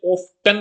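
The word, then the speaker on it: often: अब ऑफन भी बोला जाता है, इसे ऑफ्टन भी बोला जाता है ना, दोनों बोल सकते हो, लेकिन ऑफन सही प्रोनाउंसिएशन है ना, यूके वाली ऑफन।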